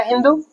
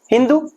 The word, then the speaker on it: हिंदू: वैसे ही क्या, जो अपने पर्शियन लोग थे, सिंधु को उन्होंने कहा क्या, हिंदू, क्योंकि वो जो 100 का उच्चारण पर्शिया में हो होता है, तो सिंधु बना हिंदू।